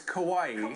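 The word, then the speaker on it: Kauai: was that again kawaii that was kawaii rhymes with Hawaii probably near Hawaii it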